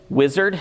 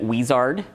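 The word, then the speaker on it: Uizard: uh a tool called wizard it's UI z a r d i because they spell it like that like to over enunciate it and pronounce it wizard to my co-workers it's wizard um wizard uses AI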